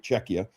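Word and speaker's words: Czechia: Um OB he was just completely disappointed not to be able to play for Cetchia and I can imagine Czecha. Beg your pardon. I have to say it right. Czecha.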